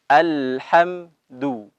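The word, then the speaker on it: الحمد: ada Halo seperti itu bunyi kita baca alhamdulillah dalam keadaan atau dalam berharokat dhomah harus dimohonkan al-hamdu bagi itu ya Bilangin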